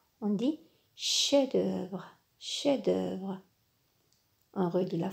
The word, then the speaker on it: chef-d'œuvre: chef-d'oeuvre très bien regardez le F de chef-d'oeuvre ne se prononce pas on dit chef-d'oeuvre chef-d'œuvre un rue de